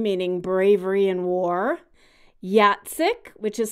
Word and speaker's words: Jacek: originally a Hungarian name meaning bravery and war Yat SiC which is spelled J ACK which is actually a Polish